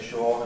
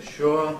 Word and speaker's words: sure: I know that I sometimes say sure and sometimes say sure.